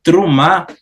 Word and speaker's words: Terumá: É interessante que essa palavra eh terumá eh terumá seria eh no num hebraico bíblico antigo, né? E trumar. Trumá seria no hebraico moderno.